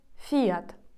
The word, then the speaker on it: Fiat: яка українською звучить як Фіат а іспанською буде Fiat Fiat наголос змінюється на і далі трішки рандомних брендів